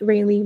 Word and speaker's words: Raileigh: My name is pronounced Raileigh, by the way.